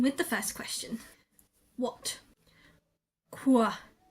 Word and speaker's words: quoi: the first question what quoi quoi it's kind of pronounced as if the QU was suddenly a KW it's kind of that sound and here are some